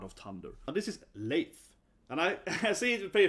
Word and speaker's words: Leif: So they're like Leif or something, Leif, but it's pronounced Leif.